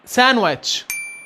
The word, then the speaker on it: sandwich: لما يجي قبله حرف الان زي كلمة sandwich وزي كلمة handsome، وده مش في كل الحالات.